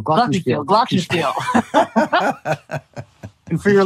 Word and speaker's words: Glockenspiel: the past 20 years, and that is the glockenspiel.